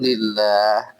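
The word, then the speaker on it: لله: আল্লাহ যুক্ত করে দেব লিল্লাহ, তাই তো? এই লিল্লাহ হচ্ছে মূলত লামজের লি মানে জন্য প্লাস আল্লাহ, এই দুইটা একসাথে লিখতে গেলে এরকম লিখতে হবে, তখন আলিফটা সাইলেন্ট হয়ে যাবে।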